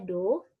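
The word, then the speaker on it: 土: Tanah ini, kanji ini dibacanya do. Doyobi, doyobi, doyobi.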